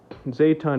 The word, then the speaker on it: Zaytun: And it's most frequently referred to as Zaytun in English. In Korean, it's pronounced quite a bit different.